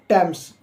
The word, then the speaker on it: Thomas: इसको टैम्स बोला जाता है इस वर्ड को, और टैम्स के मायने आते हैं, जो अर्थ आता है निकल कर हुआ है एक नदी का नाम टैम्स ही है, ठीक।